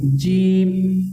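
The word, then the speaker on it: جيم: শক্ত করে। একটু হালকা শক্ত করে হরফটি উচ্চারণ করবেন। জিম।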